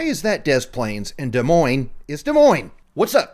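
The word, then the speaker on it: Des Moines: Like how cuz De Moine is Iowa, right? So what Iowa people are like more they know the S is silent.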